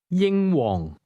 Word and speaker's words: 英皇: Did you hear the high and lowlevel tones in that name? Say it again. Yingong.